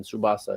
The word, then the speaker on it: Tsubasa: It's called Captain Tsubasa, TS, and then Tsubasa. It's spelled T and then S, not S.